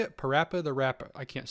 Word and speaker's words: PaRappa the Rapper: the rapper the how do you say it parappa the rapper i can't say it the rapper yeah yes